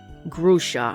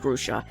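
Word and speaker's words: Grusha: is not here again grusa I mean grusa it's pronounced gusa you chose ice yes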